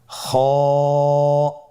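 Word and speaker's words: خ: কিভাবে উচ্চারণ করতে হবে খ হরফটির মাখরাজ হল কন্ঠনালীর শেষ ভাগ হতে উচ্চারণ করতে হয়। কন্ঠনালীর শেষ বাগ। আপনারা আমার সাথে বলুন খ আবার বলুন।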